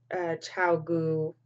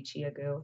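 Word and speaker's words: ChiaoGoo: I'm not sure if Chow Gu is how you actually pronounce it, but it might be Chia Gu because it's C-H-I-A-G-O-O. So it could be Chia Gu, like Chia Pet.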